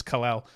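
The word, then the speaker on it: Kel'el: break out of that habit yeah he does pronounce his name khil he's wrong but he pronounced it khil it's kalal but yeah we know this draft class will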